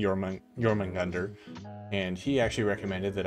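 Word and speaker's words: Jörmungandr: it I notu yeah pretty sure you pronounced the J as a y in it yeah instead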